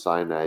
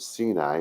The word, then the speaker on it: Sinai: it and Mount Sinai some people notice Sinai these days but Sinai is the proper pronunciation and Mount Sinai was